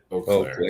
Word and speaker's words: Eau Claire: If it were Eau Claire, Michigan, we pronounce it Eau Claire.